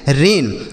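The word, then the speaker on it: rain: आर ए आई एन रेन।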